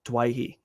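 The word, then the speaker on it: Doueihi: So let's talk about pronunciation on this one, because his old man wants the name to be pronounced Dewey, but the Lebanese community preferred Dwayhe.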